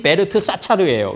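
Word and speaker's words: 벨드사살: 그다음에 빨삼 다니엘 라 다니엘을 뭐라 그러냐면 베르트 사차르라 이렇게 는 베르트 원판 발음이 베르트 사차르예요.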